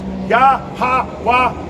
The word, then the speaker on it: Yahawah: in the Paleo Hebrew it's going to be pronounced yahawah ha waha together is W so yah it means